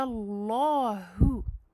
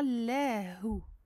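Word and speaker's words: الله: Ici, fatha, donc je fais un gros lem. Je le gonfle bien, je renferme l'air à l'intérieur de ma bouche et je le prononce de cette façon. Qul huwa Allahu, Allahu, et non pas lahu, comme dans la basmala.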